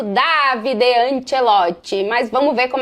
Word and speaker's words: Davide Ancelotti: É assim mesmo que se pronuncia em italiano, Davide Anchelote.